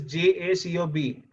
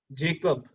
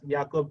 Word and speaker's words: Jacob: So the spelling of Jacob is J-A-C-O-B. You would normally call it as Jacob, but these guys are Dutch, so they call it as Jacob, or it's pronounced as Jacob.